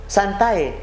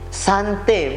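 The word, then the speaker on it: Sanctae: di dalam video disebut santai. Itu salah. A dengan E dalam bahasa Latin itu kita bacanya itu E. Jadi sante bukan santai.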